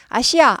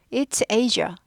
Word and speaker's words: Asia: Asia, Asia 두 가지 발음돼요. Asia 해도 되고 Asia 해도 돼요. 아시아 아닙니다.